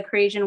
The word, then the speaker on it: Crasian: Lion Fights from Sicily to watch the Crasian win.